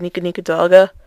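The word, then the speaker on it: ニコニコ動画: I keep calling it Nico uploads, even though I pronounce it Nico Nico Doga, because I'm weird.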